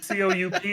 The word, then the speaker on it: coup: It's like, it's a silent P, my brother. C-O-U-P is coup.